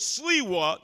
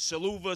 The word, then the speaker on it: Sliwa: There was Sliwa, nobody could pronounce my name. It was Saluva, Saliva, whatever.